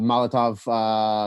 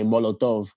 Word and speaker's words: Molotov: called Molotov, like a Molotov cocktail. Yeah. Like a Molotov That's what I was just cocktail. gonna say, yeah. But they pronounce it in a Spanish way, Molotov.